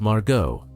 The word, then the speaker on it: Margo: P5, the tall woman, said her name was Margo with a hard G and that she was a freelance translator.